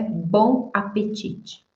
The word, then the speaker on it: bon appétit: E a pronúncia é bon apetite.